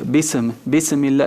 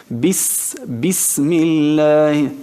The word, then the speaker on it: بسم الله: Entonces, si no la pronuncias con ese susurro, le vas a aplicar otra característica que no es suya. Bismillah, esto es qalqala, que no se le aplica a esta letra. Tienes que hacerlo así. Bismillah, presionar y que salga el aire a la hora de pronunciarla, y eso se llama susurro, eso es hams, así.